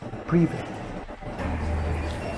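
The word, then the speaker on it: Привет: Pronounce it right for me. Privet.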